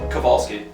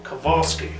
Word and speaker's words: Kovalsky: How do you pronounce it? Kovalsky. Kovalsky.